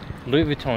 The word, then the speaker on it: Louis Vuitton: going to say potato really that sound pretentious Louis Vuitton Louis Vuitton is correct oh really oh first American who